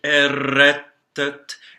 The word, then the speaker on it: errettet: So there's two T's in the word errettet, and so we pronounce that by closing off on the first T and then exploding into the second T. Nicht errettet, and the T's are almost always dental T's in languages other than English.